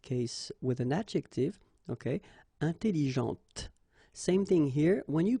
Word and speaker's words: intelligente: Intelligente. Same thing here. When you put this well, actually you will pronounce the final T, okay, but you don't pronounce this here.